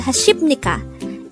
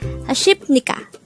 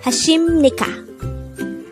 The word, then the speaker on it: 하십니까: Just a reminder, when we spell 하십니까, it would seem like it is pronounced as 하십니까. But in Korea, they pronounce it as 하십니까. Not a P, but an M sound.